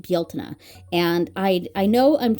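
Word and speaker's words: Bealtaine: But anyway, that uh that holiday is spelled that way and it is pronounced Baltna.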